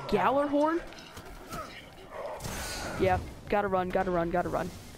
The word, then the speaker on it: Gjallarhorn: comment is section below you pronounce it galler horn ya gotta run gotta